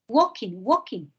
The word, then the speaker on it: walking: Walking. Que es caminar. Walking. Es que mi amor, tú no pronuncias la L, ¿ok? En walking se escribe con una L, ¿no? Pero no se pronuncia.